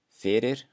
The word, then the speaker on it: fyrir: The first rule is at the beginning of words, it will always sound like the English F. So here are three examples. Fyrir, fyrir, Frakkland, Frakkland, fáni, fáni.